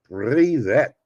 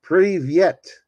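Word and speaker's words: привет: We'll start today with your first Russian word, privet. No, that's not how you say it. It's privyet.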